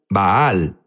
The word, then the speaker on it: Baal: Jesús habló sobre bal unos dicen bal baal es la pronunciación correcta correcto pero sabes qué